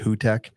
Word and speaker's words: Hugtek: It's Hugtek, but they're a Turkish company, so I think they pronounced it Hutek.